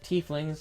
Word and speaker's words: tiefling: a tiefling is for instance rare but distinctive tea flings it also has pronunciations for those you who don't know how